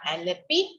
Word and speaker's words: Alleppey: सो you have to right this spelling ALLEPPEY, Aleppi Port.